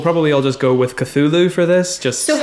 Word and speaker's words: Cthulhu: And then side note, Cthulhu is pronounced Cthulhu. It's just a sound, right? That's the point. It's meant to, like, that the jarble of letters is meant to make you reach for this, like, glottal, like...